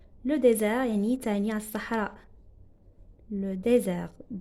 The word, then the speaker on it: désert: Il habite dans le désert. Le désert يعني تعني الصحراء. Le désert. D accent S E R T. Regardez, S entre deux voyelles, ça se prononce Z, désert.